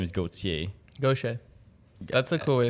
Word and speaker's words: Gauchier: you say it again for me go t go see ya like a Lachlan it's pretty English that you'd